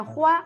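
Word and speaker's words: 花: utilizamos como Si flor, se pronuncia hua que é en chino.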